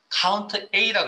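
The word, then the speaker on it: COUNTA: 자, 이걸 카운트 A라 그럽니다. 물론 뭐 사용하시는 분에 따라 표현을 카운터라고 읽는 분도 계신데 저는 카운트 A라고 읽겠습니다.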